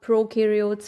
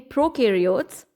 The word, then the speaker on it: prokaryotes: See, pro rhymes with no. Pro, no. The pro in prokaryotes rhymes with no.